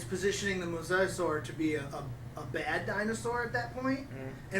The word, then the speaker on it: mosasaur: Like, honestly, when we first saw the mosasaur, that's how you pronounce it, right?